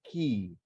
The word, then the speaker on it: cay: In English, Cay is pronounced key, formed by windswept coral debris.